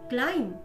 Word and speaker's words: climb: Silent B. B is not pronounced in these words. B चा उच्चार या शब्दांमध्ये केला जात नाही. Bomb, climb, comb, crumb, doubt, dumb, lamb, plumber, numb, thumb.